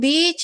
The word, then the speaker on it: beach: Beach dua harakat ya. Mad thobbii Bapak Ibu jangan satu ya. Nanti beda maknanya jangan pendek bacanya ya.